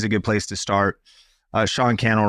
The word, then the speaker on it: Sean Cannell: Sean Cannell rhymes with YouTube channel across social media, personally.